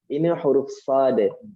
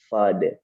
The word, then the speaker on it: ص: Huruf sad. Begitu. Makhrajnya, pengucapannya tadi kan kita singgung di awal, huruf sad itu satu makhraj dengan huruf sin dan juga satu kondisi. Hanya beda cara pelafalan.